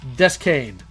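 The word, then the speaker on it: Deschain: It's pronounced Descane. Like Roland Descane from...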